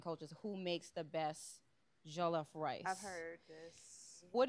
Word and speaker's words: jollof: Chef L um so the recipe is called jollof rice am I pronouncing that correctly yes um for an American